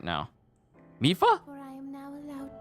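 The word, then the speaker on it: Mipha: of things are being lined up right now mifa for i am now allowed by this freedom to be with you once again mifa zora champion since i am now a spirit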